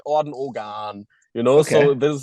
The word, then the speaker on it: Orden Ogan: The right way to pronounce this is Orden Ogan. Right. Um, the Germans always try to say it in an English way, so or American way. They say Orden Ogan, and the Americans always say Orden Ogan.